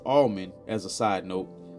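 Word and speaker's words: Allmon: This is spelled A L L M O N, but it's pronounced like the almond on a tree.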